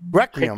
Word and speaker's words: Requiem: How do you pronounce this, Tim? Requiem.